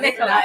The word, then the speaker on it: Nicola: And it's Nicola. Right? Nicola, Okay, yes. perfect. Yeah, Cool. you got I it. always get nervous with pronunciation.